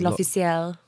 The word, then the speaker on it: L'Officiel: I thought it was L'Oreal, but it wasn't. No, it's L'Officiel.